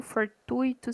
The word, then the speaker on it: fortuito: ser até as carácter as palavras gratuito fortuito circuito tem tonicidade no i a e agora e quando